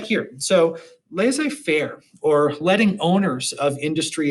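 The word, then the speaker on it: laissez-faire: them right here so laissez faire or letting owners of industry and business set the working conditions without interference i often mispronounce this by just calling it lazy fair lazy kind of referring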